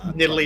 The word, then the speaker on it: Nidalee: pick it um that is how you say nidalee is it's gonna be really annoying um as